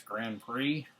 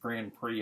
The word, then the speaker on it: Grand Prix: I don't get how they get Grand Prix. I guess because it's like a silent, the X is silent. I don't know if it's like a French name, but pretty cool.